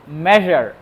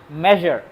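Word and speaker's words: measure: হচ্ছে মেজার এম ই এস ইউ আর ই উচ্চারণটা হচ্ছে মেজার মেজার অনেকে এটাকে মেজার বলে বা অন্যান্য ভুল উচ্চারণ করে বাট সঠিক উচ্চারণ হচ্ছে মেজার আর এই ওজন করাকে মেজার বলা হয় মাপাকে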